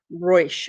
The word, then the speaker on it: Ruysch: She pronounced it in the correct pronunciation. It spelled Rachel, but she's like Rachel with the and everything. Ruysch, Ruysch, who was from the late 1800s.